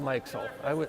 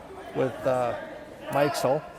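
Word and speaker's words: Mikesell: I'm going to go with Mikesel. I thought it was Mixel just reading it earlier,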